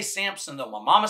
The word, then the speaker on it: Samson: Samson so we always say Samson but it's Sam's son I saw that written the other day I was like have I just been mispronouncing this my whole life and no one's